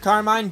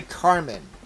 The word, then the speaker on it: Carmine: People say either Carmen or Carmine. Once I saw this, I saw Carmine. I said Carmine, but it's actually Carmen. That's how it's supposed to be pronounced, I think.